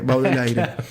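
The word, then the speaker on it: Baudelaire: Baudelier, digamos, Baudelier pronunci del Aire, Baudel aire.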